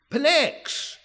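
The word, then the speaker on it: Pnyx: Sometimes the P is silent the way people say it, but most of the time it's pronounced Pex.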